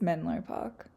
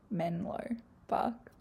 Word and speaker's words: Menlo Park: I don't know where I got Menlo Park from. It's Menlo Park. Menlo Park. Please ignore that mispronunciation.